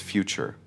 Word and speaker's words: future: In the UK, we often pronounce this quickly. Focus on the O sound, grocery. Next is future.